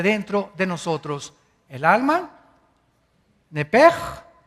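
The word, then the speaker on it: נפש: es la palabra hebrea nepes así como suena n e p e s h nepes la palabra la letra o las letras sh en el hebreo se pronuncian en hebreo como J Entonces se pronuncia nepe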